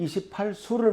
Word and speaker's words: 28수: 이것은 동양의 28수를 말합니다. 28수라고 할 때 우리가 한자로는 그 머문다, 여인숙, 숙박할 때 숙자를 씁니다. 근데 그 숙자가 별자리 숫자예요. 그래서 28숙이라고 읽으시면 안 됩니다. 28수, 28개 별자리를 들고 있는 거고, 이 중에